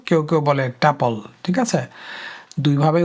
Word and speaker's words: tuple: Finally আমাদের চতুর্থ data স্ট্রাকচারটি হচ্ছে টুপল। TUPLE। ওকে, এইটার উচ্চারণ কেউ কেউ বলে টুপল, কেউ কেউ বলে টাপল।